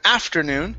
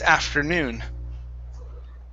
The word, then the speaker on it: afternoon: next is afternoon okay stress on the end instead of afternoon it's afternoon afternoon okay very good next